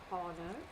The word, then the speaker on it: honor: Now, first of all, this is a list of words where the H, in all these list of words, my H is silent.